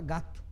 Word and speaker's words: gato: gato preto nada disso a gente fala gato né então tem o som do lá no final então percebo que a